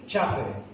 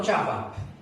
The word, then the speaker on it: Chafer: Este señor se llama Lewis Sperry Chafer, no Chafa, ¿verdad?